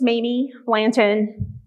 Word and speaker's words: Mamie Blanton: Hey, my name's Mamie Blanton. It's pronounced just like it's spelled.